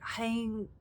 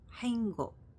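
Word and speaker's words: 행: I can't pronounce this so it's like hang is it the G because it the way it's romanized it's h a e n g b o k and I know that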